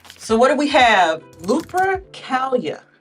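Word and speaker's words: Lupercalia: Lupracalia. Lupricalia. That's how you pronounce it.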